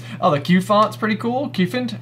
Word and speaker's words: Cufant: Cufant? How yep. would you pronounce it? Yeah, Cufant. Okay. Like an elephant.